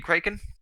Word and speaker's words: Kraken: What are you kraken? That's how you pronounce it, Kraken.